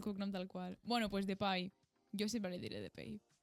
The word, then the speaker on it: Depay: radiofònic, m'ho haig de posar com es pronuncia, no m'haig de posar el cognom tal qual. Bueno, pues Depay.